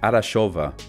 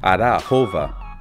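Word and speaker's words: Arachova: On our way to visit the archaeological site of Delphi, we drove through this fairy tale city called Arashova, or closer to the proper pronunciation, Arahova.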